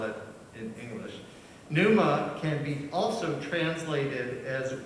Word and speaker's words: pneuma: jesus spoke in greek the word for spirit pneuma p and e u m a is how we spell it in english pneuma can be also translated as wind and breath